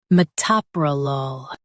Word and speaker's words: metoprolol: M, top, r, lol. METOPROLOL. Stress the top syllable and keep r light.